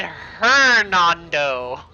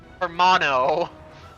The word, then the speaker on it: Hernando: I said Hernando, not Hermano, or Himano?